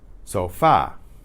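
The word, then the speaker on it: sofá: can't you didn't guess but the why why is the stress on that last syllable so far well normally it wouldn't be but in Spanish there's an accent mark written on that last letter there so far SOF a with an accent that's a acute accent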